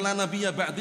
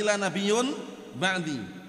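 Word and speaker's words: لا نبيَّ بعدي: Apalagi juga di Arab dikenal waktu itu, sampai-sampai para ulama menyebutkan juga nabi namanya La, karena membacanya bukan la nabiyya ba'di tapi la nabiyyun ba'di.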